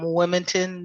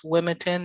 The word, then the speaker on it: Wilmington: Walker, and I'm joining you from Wilmington, North Carolina. That's Wilmington, not Wilmington, because we can't pronounce all those letters.